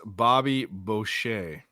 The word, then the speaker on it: Bobby Boucher: in my blood but um not bad it's pronounced Bobby Boucher okay well there you go they got um